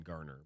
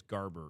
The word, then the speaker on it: Garber: I think I might have said Dan Garner, but I think it's Garber is is the actual way you pronounce uh last name.